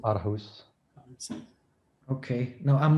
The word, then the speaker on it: Aarhus: The Our House convention? Our house. Yeah, maybe I'm pronouncing that incorrectly. It's a Danish city. Okay. I don't know how you say it. Aarhus.